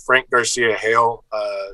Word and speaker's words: Garcia-Hejl: You can find me online on social media at Frank Garcia-Hejl. It's spelled Hejl, and that's on Twitter and Instagram.